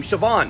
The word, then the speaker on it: Siobhan: spellings, and then we get the Northern Irish pronunciation of Shane, and then the same thing happens with Joanna, which becomes the name Siobhan.